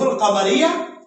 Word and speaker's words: القمر: حروف جو قمری ہیں، ٹھیک ہے، حروف القمریہ 14 ہیں، یعنی کہ وہ حروف جن کے شروع میں ہم الف لام لگاتے ہیں اور تلفظ میں بھی الف لام پڑھا جاتا ہے، جیسا کہ الباء، الجیم، الحاء، النحاء، القمر.